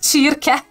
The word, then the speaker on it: csirke: Yeah, and ch is csirke. Csibe. So ch is pronounced ch, like in mochi, the ch. So like ch in mochi, ch.